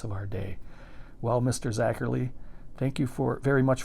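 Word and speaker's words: Zacherley: Mash by the master of monster zacher Le pronounced zacher Le in monal and scario so that's some good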